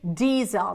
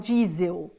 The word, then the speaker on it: diesel: thank you guys diesel we say diesel not jel but diesel diesel and alcohol okay gas